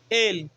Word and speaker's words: el: Nós temos o artigo definido el, que a pronúncia certa é esta, a gente fala ele, a gente puxa no céu da boca, ele, que é o artigo definido o.